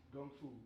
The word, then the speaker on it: gung fu: is another word for the Cantonese pronunciation for Kung Fu so when you hear